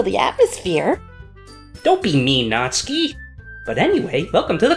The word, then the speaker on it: Natsuki: whose name is apparently not ski is the one I don't like icky not-not-not suit you're supposed to pronounce it not ski but because Nazi yes you're supposed to be